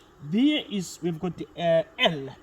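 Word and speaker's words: elles: The pronunciation remains the same. It is L. It's not L's.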